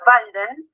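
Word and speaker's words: Walden: Por otra parte, va a escribir otro texto que en alemán se pronuncia Valden, que tiene que ver con la presencia y su exilio y aislamiento y reclusión en el bosque.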